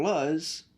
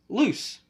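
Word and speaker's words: Luz: form is spelled Luc so of course I'm calling her laws because it's Luc but of course it's pronounced loose short for Lucinda I don't know whatever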